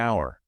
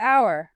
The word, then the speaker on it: hour: I'll see you in an hour. An hour. I'm back to the hiccup. Because the H is silent.